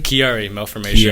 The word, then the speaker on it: Chiari malformation: you went through with your, how do you pronounce that? Chiari malformation? Chiari malformation.